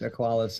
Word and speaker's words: Aqualis: actually, that is correct. Aqualis is correct.